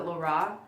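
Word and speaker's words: Rara: It's R-A-R-A, but they pronounce it La Ra.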